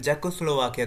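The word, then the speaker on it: Czechoslovakia: करता है फिर जको जको स्लोवाकिया का एनेक्सेशन करता है यहां पे सी साइलेंट है इसको जैको स्लोवाकिया पढ़ते हैं तो आगे हम मैं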